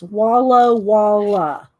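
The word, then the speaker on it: Walla Walla: Okay, it's Wallow Walla. But that's how you spell it.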